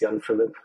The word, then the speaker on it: Jan-Philip: always shortened to because really it's young Philip and I think the